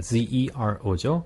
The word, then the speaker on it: zero: 제로 네. 그런 제로 지로 제로, 많이 하는데 네. 네. 그 zero입니다. zero죠.